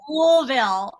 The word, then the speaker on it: Louisville: two t-shirts one was louisville it's pronounced like marbles in your mouth they're like blueville yeah that's not a little they go louisville woolville and then i and then